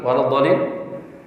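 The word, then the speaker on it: وَلَا الضَّالِّين: Maka bacanya waladhdallin. Tuh, ada hentakan dhallin. Ada. Coba ulangi waladhdallin.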